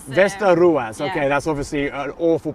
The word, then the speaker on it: Västerås: Västerås. Västerås, okay, that's obviously an awful pronunciation of it, but there are 6 stone ships.